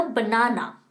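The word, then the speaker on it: banana: सबको पता है, बट हम उसका प्रोनाउंसिएशन गलत करते हैं। वो फ्रूट है केला। केला यानी बनाना, नो, बनाना नहीं कहना है, it's called a बनाना। Okay, इतना स्ट्रेस करके नहीं कहते हैं, बनाना नहीं कहना है, इट्स कॉल्ड बनाना, बनाना।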